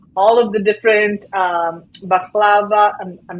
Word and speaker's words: baklava: the kebabs and all of the different um baklava I'm not pronouncing it correctly of course and you're pronouncing